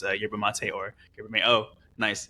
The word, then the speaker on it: yerba mate: Yeah, first off, like I'm so glad you pronounced it Yerba Mate.